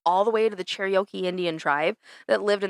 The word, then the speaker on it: Cherokee: Because it's like Cher and then Okie? Cherokee.